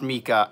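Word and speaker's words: Meike: Oh, it's pronounced Mika.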